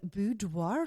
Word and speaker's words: boudoir: I feel like I have to say it like that. Boudoir. Like very français.